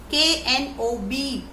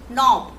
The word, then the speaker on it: knob: K-N-O-B, knob. So knob is actually, the knobs are, now you can see that K is silent here.